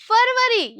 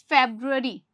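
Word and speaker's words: February: उसके बाद आता है फरवरी, यानी कि फेब्रुअरी।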